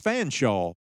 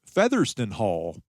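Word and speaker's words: Featherstonhaugh: In Arkansas, he's called George Fanshaw, but that efficiency seems an injustice to a last name that is 16 letters long and looks like it should be pronounced Featherston Hall.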